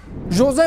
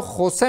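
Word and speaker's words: José: همه ما را خوسه میگویند. من خوسه نیستم. من ژوزه نام دارم.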